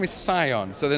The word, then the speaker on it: Cion: quick little overview and also how do you pronounce the name the name is Sion so the name is an Old English word